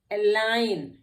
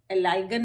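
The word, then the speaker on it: align: एलाइन, यहाँ भी जी एन से पहले है तो ये एलाइगन नहीं है, एलाइन।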